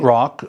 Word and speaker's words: Roch: I want to tell you a story about Saint Roch, and that's pronounced Roch, but it's spelled R-O-C-H.